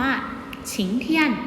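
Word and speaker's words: 晴天: เป็น เขียน นะ คะ ทำ นี้ อ่าน ออก เสียง ว่า ฉิง เทียน นะ คะ ลูก แปล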